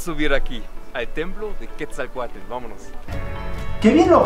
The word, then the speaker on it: Quetzalcóatl: Podemos subir aquí, al templo de Quetzalcóatl. Vámonos. ¡Qué bien lo pronuncia, eh! Sí. Es difícil, Quetzalcóatl. La TL nos cuesta muchísimo.